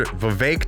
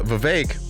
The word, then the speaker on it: Vivek: another thing about uh Vivek everyone who hates him says his name correctly and everyone who likes him uh does not say his name correctly they keep saying Vivek Vivek like cake he said it himself